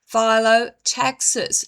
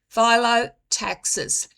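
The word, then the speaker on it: phyllotaxis: This is called phot taxis. And I will spell it for you. P H Y L O T A X I S. Photaxes.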